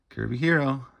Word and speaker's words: Kirby Hero: Kirby Hero rhymes with zero.